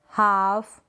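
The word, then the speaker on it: half: ये जो स्पेलिंग्स है, ये जो एग्जाम्पल्स है, यहाँ पर एल साइलेंट है, ठीक है, क्योंकि ए ओ यू वोवल्स के बाद में क्या आ रहा है, एल आ रहा है, इसलिए।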